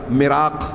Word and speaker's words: مراق: پیچھے آپ پڑھ چکے ہیں، سن چکے ہیں ہاں کہ مرزا جو ہے مالی خولیا، مراق، ہاں میں نے شاید وہاں مراق کہا تھا، وہ صحیح تلفظ ہے، مراق، ہاں سل، دق اور ایسی بیماریوں کا شکار تھا، ذہنی خلل کا شکار تھا.